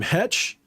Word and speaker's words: Heche: Hetch, the one who just got in that car accident, that sick accident. You guys see that shit? Anne Heche.